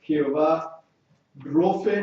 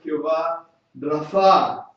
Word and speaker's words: Jehová Rofe: El segundo nombre es Jehová Rofe. Algunos pronuncian Jehová Rafa.